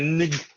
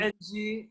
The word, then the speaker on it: Ng: I can't pronounce the last name, but I'm just gonna say Nig. It's spelled Nig? N-G. Ng.